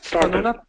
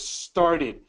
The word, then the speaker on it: started: Cuando una palabra termina en T o D antes de la ED es una sílaba nueva. So it's started. Todas las demás se cortan. So, por ejemplo, prayed, saved, smelled, studied, talked, teased. Todas cortan. Pero si hay una T o una D antes de la ED, es una sílaba nueva, entonces es started. Así es, ¿ok?